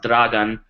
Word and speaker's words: Dragan: name is Dragon trakowski it's actually pronounced Dragon I go by Dragon because it's much easier to pronounce and it's way cooler uh my last name looks